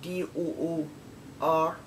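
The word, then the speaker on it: dour: his name and it say doesn't d-o-u-r but it's spelt d-o-o-r as like door and it means glom never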